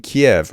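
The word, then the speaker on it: Kyiv: you right listen that to the maniac in Kiev it's actually pronounced Kei by the way and he's not a maniac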